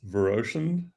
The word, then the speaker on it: Viroshan: is that how I pronounce it? It's Viroshan, and is right.